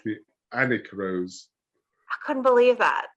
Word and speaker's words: Alnwick: Who knew that I said the Alnwick rose initially, but then I later found it's Annick, the Annick rose.